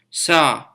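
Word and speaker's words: 사: death in other cultures this refers to the number four and sino-korean numbers and is pronounced saw white and black colors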